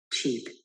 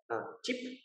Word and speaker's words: cheap: this one cheaper cheap cheap okay remember chi chi ah don't read that don't speak like that chip chip you know it's a long e okay cheap cheap okay